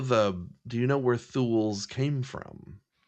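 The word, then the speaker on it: thoul: It was just thu instead. That's why it's spelled t h o u l. And a thool is a they decided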